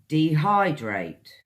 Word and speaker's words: dehydrate: you is D hydrate three syllables guys D hi great dehydrate what this means is